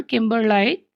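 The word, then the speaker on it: kimberlite: Transcription for the word किम्बरलाइट। किम्बरलाइट, इस इसके answer को डाउट में रखा जा सकता है, क्योंकि प्रोनाउंसिएशन इसकी देखा जाए तो ये होना चाहिए, ये था किम्बर लाइट, ठीक है।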